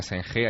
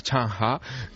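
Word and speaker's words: Zheng He: que un colón chino allí no se llama senje Allí se llama chanha que es Tom Sí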